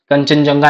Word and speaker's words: कंचनजंगा: कंचनजंगा national park जिसे कंचन जोंगा भी national park भी बोलते हैं। ठीक है? तो स्पेलिंग थोड़ा सा देख लीजिएगा। कंफ्यूज मत होइएगा। ठीक है? दोनों एक ही हैं। बस थोड़ा सा प्रोनंसिएशन और स्पेलिंग का डिफरेंस है।